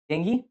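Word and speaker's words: dengue: हाय आई am mister डेंगू। क्या बोलता है? डेंगी, डेंगू जो बोला है, डेंगी real pronunciation is डेंगी, बट डेंगू बोलते हैं, डेंगू बोलेंगे मज़ा आता है डेंगू बोलने में, ठीक है?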